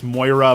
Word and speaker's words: Moira: They said that you pronounce Moira more like Mariah, like the Mariah Carey, and so that's how